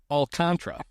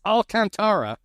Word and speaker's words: Alcantara: the greatest things ever Len getting yelled at on Twitter for mispronouncing uh for pronouncing it alantra and they're like it's alantara and he's like I asked